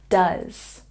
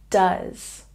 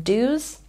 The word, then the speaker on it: does: word quite often so say it with me does does sometimes people mispronounce this word by saying dos does and in this word the CH sound